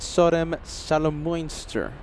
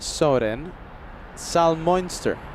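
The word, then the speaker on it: Soden-Salmünster: It's a bad SOM salomster. Kevin's giving me the stare. Excuse me. Bad Soden Salmonster.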